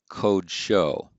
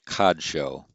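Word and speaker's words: קָדְשׁוֹ: So we get code show. So that's a short O. Actually, the textbook would pronounce that cod show.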